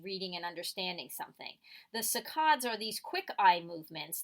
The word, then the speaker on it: saccades: kinds of eye movements: fixation eye movements and saccades is how you say it, those eye movements.